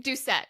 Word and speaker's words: Doucette: just completely went from my brain that's okay duet it's it's a hard one to pronounce too so you're good Sarah duet oh